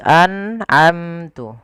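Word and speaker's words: أَنْعَمْتُ: Kesalahan yang sering terjadi biasanya memantulkan suara nun. An, ya, an'amtu, an'amtu. Harusnya tidak boleh dipantulkan. Dia an'amtu, harus jelas. Harus jelas an'amtu.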